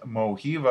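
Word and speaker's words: Mojiva: Another one is Moiva, I believe is how you pronounce it. It's M OJ IVA.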